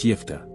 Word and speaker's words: Jephthah: thank you in advance jeffa and the sacrifice of his daughter jeffa in phenician Hebrew is pronounced yifa he appears in the